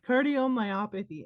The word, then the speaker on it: cardiomyopathy: yeah, cardiomyopathy.